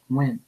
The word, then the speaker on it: Nguyen: I was angry because my name it was pronounced Win, like Paul Win. That's how you say it, Win, right? Because it have the tone and tonality in it, right? And I said, "Hey, your name is not Nguyen," and the guy he